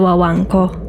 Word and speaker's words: Guaganco: I am very excited to talk about the story of the Wango, as I was told, that's how you say it.